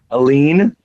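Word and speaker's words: Helene: because then oh yeah true alen that's Helen to me if it's French it's Helen but this is where I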